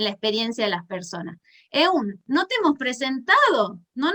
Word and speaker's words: Eun: Por eso aquí me cambié un poquito, todo me llaman Eun, como se escribe, E-U-N, Eun.